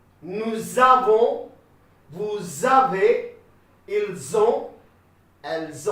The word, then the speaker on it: nous avons: J'ai, tu as, il a, elle a, nous avons, this S is silent, okay, nous avons, vous avez, ils ont, elles ont.